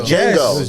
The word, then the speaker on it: Django: No, I think it was Django. Django. Yes. Yeah, because the D is silent. Pause. Yeah. Pause. Yeah. Django.